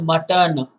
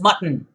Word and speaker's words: mutton: way mutton chop remember do not pronounce it as mutton it is mutton like button the un sound is very clear i think you are